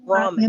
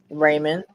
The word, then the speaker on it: ramen: It's called ramen. R-A-Y-M-E-N, Dree. It's spelled R-A-M-E-N. Ramen. Raymond.